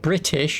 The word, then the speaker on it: British: No, British. It's not British. You don't pronounce the T, you fuckwit.